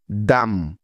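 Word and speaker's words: dumb: না প্রথম কারণটা হলো এম এর পরে যদি বি বর্ণটা থাকে তাহলে ওই বি এর কোন উচ্চারণ হয় না তবে এসব শব্দ লেখার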